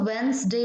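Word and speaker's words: Wednesday: यहां पर सही है हम लोगों का वेनसडे इसको वेंस डे बोलते हैं हो सकता है आपका यही आ जाए कि इनमें साइलेंट कौन सा है तो वेंस डे बाइलिंगुअल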